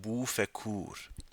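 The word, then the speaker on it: بوف کور: In Farsi, it's pronounced Bu Fekur.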